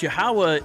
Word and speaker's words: Yahawah: Now, of course, Yahawah is the distinctive lashan kurash pronunciation.